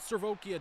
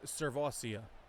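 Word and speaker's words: Sirvocea: According to the internet and a story I saw, his name is Servosia. So he is Servosia Dennis. Servosia, I think it actually said. Servosia Dennis.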